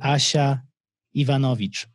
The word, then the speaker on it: Asia Ivanovic: Today, we're going to chat with Asia Ivanovic, and I pronounce her name the way it should be pronounced because I have the unfair advantage of being Polish. Most of you will not pronounce it that way, unfortunately, but you should try as much as possible to say Asia Ivanovic.